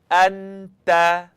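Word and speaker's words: أنت: Anta, anta, anta. Now, if you were saying it wrong, you'd hear something like anta, t, t.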